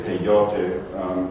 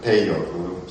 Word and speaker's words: peyote: And this again was called peyote, and some people say peyote, but it really is accented peyote. Sargon spelled it P-E-I-O-T-L, which would be pronounced peyote.